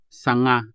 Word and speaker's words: sanga: Let's practice with this word sanga, meaning branch. So this Hiligaynon consonant sound is pretty much like the ng in English. Just like the ng in the words sing, hang, and long.